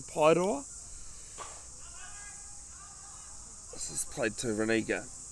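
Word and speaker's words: Paeroa: I do actually live in a small town at the bottom of the Coromandel called Pairoa. Correct pronunciation, Pairoa.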